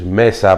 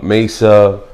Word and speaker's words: Mesa: call me uh cuz a lot of people have trouble sometimes saying my name which is Messa by the Messa some people call me uh Mesa you know Mesa you